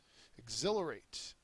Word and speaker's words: exhilarate: is decease antonym birth Exhilarate is the next word and it's a verb second syllable is accented it means to enliven